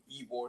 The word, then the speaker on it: Ybor: town called Ybor City it's spelled Ybor sometimes people call it whiteboard but it's like Ybor City and that is uh